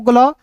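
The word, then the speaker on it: glue: जी एल को ग्ल। और यहां देखिए अंतिम में यू ई आया। तो यू ई का उच्चारण ऊ के रूप में करते हैं। जी एल यू ई ग्लू। क्या पढ़ेंगे? ग्लू पढ़ेंगे। समझ रहे हैं कि नहीं मेरे भाई?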